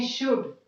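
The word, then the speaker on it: should: अब यहां पर देखिए डी के पहले एल है तो हम इसका प्रोनाउंसिएशन क्या करते हैं, शुड.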